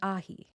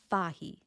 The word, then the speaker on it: fhathaigh: The case changes the ending from CH to GH, which technically is a slender consonant, although it is silent.